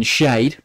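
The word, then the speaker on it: Schade: I think Brentford will score first through Kevin Shade, or Kevin Sharder, if you're going to pronounce it correctly.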